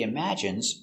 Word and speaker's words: imagine: He imagines traveling in space. Let's take a closer look at the pronunciation. Pronunciation. Imagine. Imm strong sound. Imagine I imagine. Imagine. Imagine. Stress on the second syllable.